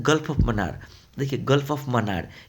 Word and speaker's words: मन्नार: एंड the gulf of मनार। देखिए gulf of मनार। ये मन्नार नाम है।